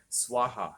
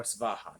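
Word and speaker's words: स्वाहा: Swaha or Svaha, depending on how you pronounce it.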